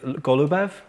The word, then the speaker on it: Goloubev: I've just pronounced your surname wrong, I think. Is it Goloubev? Yes.